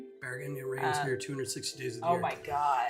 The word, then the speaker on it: Bergen: If you don't like rain, don't come to I'm not going to pronounce that right. Bergen. Bergen.